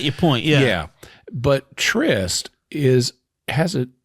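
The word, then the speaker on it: Tryst: even spelled the same trist is spelled with a Y and the character's name is spel it's t r y s t yeah it's like this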